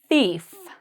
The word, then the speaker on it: thief: So when I pronounce this word, my tongue comes out of my mouth like this, and it touches my top teeth. And so I would say thief, thief.